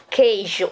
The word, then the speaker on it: queijo: de ter três vogais a palavra queijo não é um tritongo por quê Porque a gente não pronuncia o o a gente não disco eixo gente diz queijo o outro ali só auxiliando o que mas ele não é pronunciado quando a gente fala